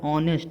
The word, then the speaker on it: honest: ऑनेस्ट, देखिए ऑनेस्ट का हमारा प्रोनाउंसिएशन जो होता है HONEST, इसका प्रोनाउंसिएशन होता है ऑनेस्ट, अ बड़ा आ नेस्ट, ऑनेस्ट।